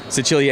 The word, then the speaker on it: Sicilia: Sicilia. Sicily. Yeah, but it's like a combination of 2 things. I think what it is the actual way that you pronounce it, Sicilia, and it's based on